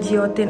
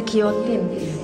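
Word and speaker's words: guillotine: nah ini juga ilustrasi e giotin eh bukan giiotin ya ternyata bacanya kiotin kiotin teman-teman jadi ya ampun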